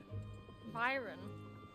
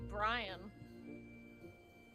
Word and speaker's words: Byron: Byron. What were you saying? I saw that name before, but I thought it was Brian.